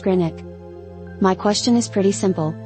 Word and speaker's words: Greenwich: place names, namely, that of the W in the Wich suffix, which, as I understand it, is not enunciated.